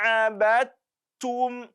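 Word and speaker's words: عبدتم: When you check the Quran, you will see that there is letter dal carrying sukun. Then after that dal, we have letter ta. There we have to do idgham. There is an idgham we have to do there.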